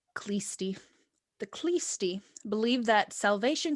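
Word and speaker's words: Khlysty: religious sect known as, I think it's pronounced the Kleist or Kleisty, something of that nature. I've heard it Okay. both ways. I'm going to say Kleisty.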